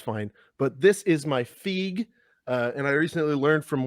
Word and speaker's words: FEG: human words if you're if you're a Hungarian individual you would know to pronounce it fig I I I'm aware